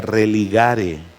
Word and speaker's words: religare: latín de de de una raíz que se pronuncia religare y la idea de ese vocablo es los